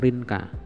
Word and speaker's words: Rinca: Pulau B ya, Rinca, cara bacanya Rinca ya, Rinca atau Rinka, oke lah, Rinca aja.